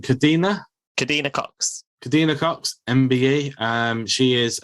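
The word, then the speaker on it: Kadeena Cox: How do you pronounce her name? Kadina Cox.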